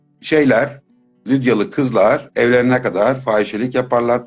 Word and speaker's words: Lydia: Mesela İstanbul ekolü Lidya diye okur. Ankara ekolü de Lidya diye. Hı hı, hı hı. Telaffuz kurallarıyla okuyoruz. E, Böyle telaffuz edildiği kabul ediliyor. Üpsilon'un Ü diye telaffuz Doğru. edildiği kabul ediliyor. Onun için öyle okuyoruz.